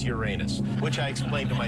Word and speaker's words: Uranus: are jupiter neptune and uranus is how i think you're supposed to pronounce it yeah that's exactly how you pronounce it on abc a fool like me in which case it's uranus which i explained to